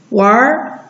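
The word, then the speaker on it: 玩儿: 那儿，哪，哪儿，玩，玩儿。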